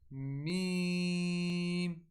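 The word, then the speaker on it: م: After that, next one are ba, meme, wow. So the word meme is pronounced from the dry portion of the lips and ba is from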